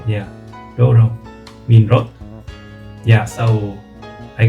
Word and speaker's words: 道路: So if I were to write road in katakana, I think it would be like Rodo, yeah, and then this pronunciation for this kanji that means road is the reverse, right? Doro, yeah. So I guess it is pretty easy to remember.